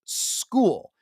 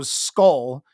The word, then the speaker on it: Skule: tackle it is pronounced School Justin school that is SK e which when you look at it quickly your brain probably go skull just because I've seen